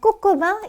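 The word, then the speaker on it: coq au vin: 좀 알아두시면 좋겠고요 자 꼬꼬방 이렇게 발음 했어요 꼭 꼭 붙여서 발음해 꾸 이게 뭐라고요 프랑스식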